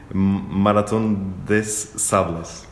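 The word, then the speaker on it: Marathon des Sables: que é, corrige-me se eu estiver errado na pronúncia, Maratón des Sables.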